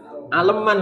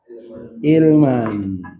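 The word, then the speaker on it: عِلْمًا: Aleman kan? Aleman gitu kan. Apa? Aleman manja. Nah, kalau ikut rumus bagaimana? Hah? Aleman. Aleman cah aleman ya. Tapi gak di sini apa? Ilman fa'lan fi'lan. Harusnya di sini kalau ikut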